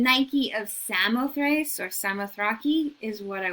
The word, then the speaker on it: Samothrace: She is the Nike of Samothrace, or you could pronounce it the Nike of Samothraki, or you can call her Victory, but that's her Roman name.